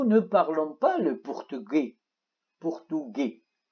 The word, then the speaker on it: portugais: portugais. الاس لا تلفظ.